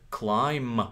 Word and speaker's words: climb: Practice, take, climb, we don't pronounce B, right?